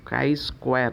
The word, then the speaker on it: Chi-square: Ini adalah koefisien Chi-square ya bacanya, Chi-square S kuadrat.